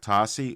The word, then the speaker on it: Tosi: your host and on today's episode I have Tosi uod please tell me I pronounced that correctly you did awesome welcome to